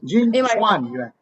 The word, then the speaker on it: Jin Chuan Yuan: Jin Chuan Yuan.